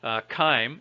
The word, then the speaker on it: chyme: Remember that in biology, a lot of the biology words came from Latin root words, and the Romans didn't have a soft C. They didn't use the sound ch. Everything was ka.